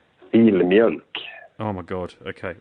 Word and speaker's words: Filmjölk: It's Filmj, and then there's the umlaut on the OLK. Filmjölk.